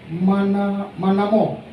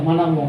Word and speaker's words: Manamo: Bendahara Manamo. Bacanya salah ya, Manamo ya.